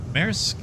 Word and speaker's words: Maersk: Maersk?